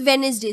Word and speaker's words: Wednesday: This Wednesday. So D is the silent letter.